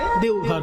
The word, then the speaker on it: দেউঘর: বৈদ্যনাথ ধাম হ্যা দেবঘর আর সংস্কৃতে বলা হতো দেবঘর দেবগৃহ দেবগৃহ সেখান বাংলা হিন্দিতে দেবঘর তারপরে এখন বটা ও তে পরিণত হিন্দি উচ্চারণে দেউঘর হয়ে গেছে যাবে এটা দ্বাদশ জ্যোতির্লিঙ্গের